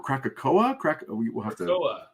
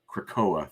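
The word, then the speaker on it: Krakoa: is it about the mission to Krakatoa or krakakoa crackoa thank you but I like the way you pronounced it thank you you added like four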